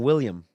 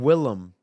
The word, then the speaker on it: Willem: you keep saying why do you keep saying William what is his name Willem Willem Willem Dafoe all right I also pronounce it Denzel not Denzel like but his